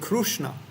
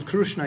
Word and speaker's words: Krishna: difference in pronunciation PR just like the oras they call it krushna in in Oria you know in India they say krushna apparently Dr P Krishna yes they cannot even say Krishna they cannot say Krishna